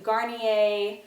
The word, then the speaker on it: Garnier: into skin care the first thing is this Garnier that's how you say it micellar water I